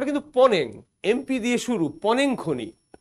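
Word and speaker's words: Mponeng: থেকে নমুনা আসছে আবার দক্ষিণ আফ্রিকার পনেং খনি উচ্চারণ কিন্তু পনেং এমপি দিয়ে শুরু পনেং খনি উপরের ছবিটা দেখো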